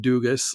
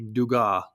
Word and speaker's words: Dugas: So his last name is not pronounced Dugas, like I said it last week. It's actually Dugas.